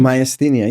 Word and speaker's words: myasthenia: Moshe personally faced and overcame a rare autoimmune disease, myasthenia gravis. Is that how you pronounce it? Myasthenia, yeah.